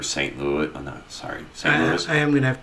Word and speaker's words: St. Louis: Oh, no, sorry, St. Louis. I am going to have to give you a little bit of crap right there. Sure. Did you just pronounce the S?